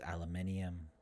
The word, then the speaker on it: aluminium: defense and uh otherwise just pronunciation aluminum versus aluminium both are fine that's all right oh